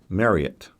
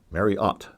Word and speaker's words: Marriott: Marriott's Great America and I was used to pronouncing it mariette but while we were there they kept saying Marriott's Great America emphasizing the OT at the end Marriott and we had a